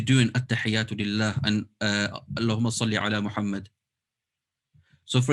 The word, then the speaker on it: Allahumma: But when it comes to Durud Ibrahim, you just say Allahumma. You don't need to stretch it.